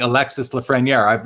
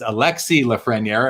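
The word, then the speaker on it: Alexis Lafrenière: a message saying in in french we don't pronounce the s i've been saying alexis lafreniere i'm now going to change it and say it's it's alexi lafreniere and i didn't know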